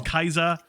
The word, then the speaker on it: Caesar: is for cicero uh caesar is kaiser um yeah so there